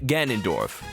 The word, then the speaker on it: Ganondorf: like am I saying it right Ganondorf get Ganondorf perfect we'll take it wait no I want